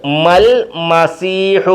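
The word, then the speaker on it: ٱلْمَسِيحُ: രണ്ട് ഇവിടെ അലിഫ് ഉണ്ട് ഈ അലിഫിന് ഉച്ചാരണമില്ല ഇത് എഴുതിയേക്കുന്നത് മൽ മസീഹു എന്നാ മൽ മസീഹു ഇവിടെ മമാ എന്ന് നീട്ടിയപ്പോ ഉണ്ട് ഇവിടെ നീട്ടത്തില്ല ഈ അലിഫിനെ നീട്ടി വായിക്കത്തില്ല ലാമിന് ഉച്ചാരണമില്ല കണ്ടോ മൽ മൽ മൽ എഴുതിയേക്കുന്ന മാൽ എന്നും പറയേണ്ടത് മൽ എന്നുമാണ് മൽ എഴുതിയേക്കുന്ന മമാ എന്നാ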